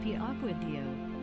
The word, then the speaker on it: Piacquadio: By the way, it's pronounced Piacquadio. It's Italian.